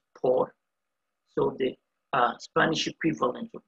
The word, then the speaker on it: por: the spanish equivalent of f4r it's people are pronounced poor so the spanish equivalent of the preposition for f1 it's called por p o and what we are going to